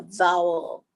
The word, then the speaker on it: vowel: Now that word vowel itself is challenging because it's got a V and a W sitting right next to each other. So pronounce that sitting back at home, vowel. So it's biting the V and rounding the W.